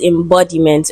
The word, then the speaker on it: embodiment: Now the word is embodiment. Okay. So the word is gotten from embody. Embody is the root word and it is stressed on the second syllable B. Right?